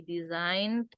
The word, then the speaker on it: designed: E-nya nggak usah dibaca ya. Ini jadi Z. G-nya dibuang. E-nya jadi I. Designed.